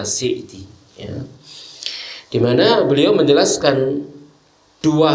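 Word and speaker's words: As-Sa'di: yang perlu kita sampaikan Aceh assa’id namun biasa di masyarakat kita atau teman-teman menyebutnya Syekh Abdurrahman Bin Nasir assa'adi yang benar bacanya asik di mana beliau menjelaskan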